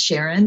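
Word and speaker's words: Sharonne: so my name is sharon hey so it's pronounced normal but spelled s-h-a-r-o-n-n-e h-a-y-e-s i am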